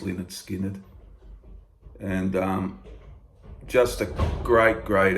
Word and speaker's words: Lynyrd Skynyrd: And from 1973, this is a masterpiece of an album, pronounced Lynyrd Skynyrd.